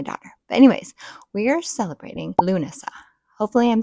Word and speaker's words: Lughnasadh: But according to Google, it's Luna, which is my daughter's name, and then Sa.